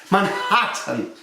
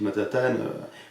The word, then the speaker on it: Manhattan: Ils disent pas du tout Manat. Si vous disent Matatan vous ne serez pas compris.